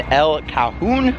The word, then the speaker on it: El Cajon: We're here in California, just outside of San Diego in El Cajon, I believe is how you pronounce it.